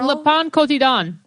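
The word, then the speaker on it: Le Pain Quotidien: It's Le Pon Cotidon.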